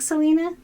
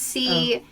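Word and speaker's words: Celaena: And then spelled like Selena? No, it's Calaena. Nothing, not even close.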